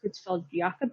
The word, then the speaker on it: Creutzfeldt-Jakob: The most common, I think it's pronounced Creutzfeldt-Jakob disease, and it occurs at about 1 in every 1 million people in the US.